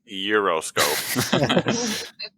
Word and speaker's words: gyroscope: might get it wrong because the answer is gyroscope. Or is it gyroscope? You gotta roll It's the actually G. pronounced Euroscope.